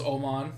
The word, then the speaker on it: Åman: Niels Åman, that's how you pronounce his name.